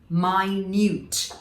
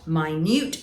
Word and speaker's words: minute: then spelt exactly the same same way but pronounced differently my newt my newt and that is saying that something is very